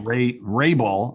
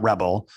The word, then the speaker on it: Raebel: Raebel, R-E-A. It's not Rebel. It's a good German name.